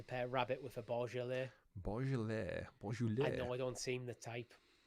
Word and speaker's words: Beaujolais: Is it Bouillolis or something? Terrible. I'll get up in this. Bouillolis. It's a French wine, I'd imagine, just by the pronunciation of the name. Is it Beaujolais? Beaujolais. That reads better. That just shows you how bad my French is.